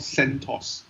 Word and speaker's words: CentOS: To be specific, it's a flavor of Linux called CentOS, like a sweet.